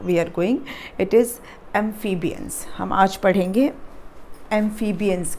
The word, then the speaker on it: amphibians: amphibians इसका ऐसा sound आता है, amphibians. ठीक है? ये F जो है, PHI जो है, वो F का साउंड देता है.